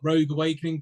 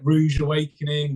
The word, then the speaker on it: Rogue Awakening: yeah so we are rogue Awakening people love to misspell it Rouge Awakening rude awakening all that so it's Rogue as in Star Wars Rogue Awakening um so